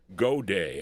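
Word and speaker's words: Goday: name was Joe Happy God Day I think this is how you pronounce this G O D A Y and the song was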